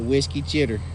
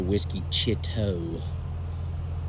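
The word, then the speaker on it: Whisky Chitto: known for its canoeing the whiskey chitter okay if you're gonna pronounce it correctly it's the Whiskey Chitto bye let me tell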